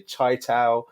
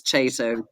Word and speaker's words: Chaitow: before we move on how do I pronounce your surname because I've always said chato people say chaow chaio there's all kinds of different pronunciations how do you pronounce your surname uh you've got it absolutely right Matt it's chato uh it's okay long way but yeah chato is the preferred okay excellent excellent that's